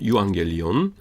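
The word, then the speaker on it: εὐαγγέλιον: 그다음에 감마 감마 두 개 합해서 앞에 거는 이응이 되고요. 그러니까 유 그다음에 갤리온 이렇게 됩니다. 유왕 갤리온.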